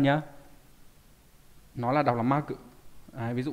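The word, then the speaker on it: 幕: Nó là đọc là ma cự. Đấy, ví dụ ma cự này hay là trong từ khai ma cự.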